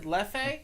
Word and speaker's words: Leffe: I always said leffe. Oh, yeah. The leffe. Left, yeah. It's Left. actually left, pronounced left. Left, because it's French.